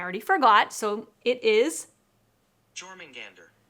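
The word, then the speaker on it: Jörmungandr: And I looked up how to pronounce this word and I already forgot. So it is Jormungandr. Jormungandr, which is the serpent from Norse mythology, Jormungandr.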